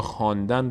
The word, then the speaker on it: خواندن: خواهر نمیخونیم خواهر می‌خونیم یا خواندن رو ما خواندن می‌نویسیم اون واو رو ما نمیخونیم و مثال‌های الف‌های هم